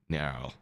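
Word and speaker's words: Nearl: Nerl.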